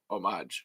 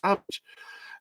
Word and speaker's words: homage: It's homage. It's a French word. It's homage." And they're like, "No, it's homage."